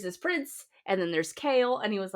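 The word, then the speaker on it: Chal: prince and then there's kale and he was like kale. And I was like yeah but it it's spelled ch h a l. And he goes that's chole. And I said it's not chole.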